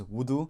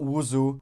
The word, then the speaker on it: wudu: There's wudu and ghusl, okay? It's not wuzu. Don't say wuzu with a Z. a lot of people like to say it like that, but no, it's wudu or wudu and then ghusl, all right?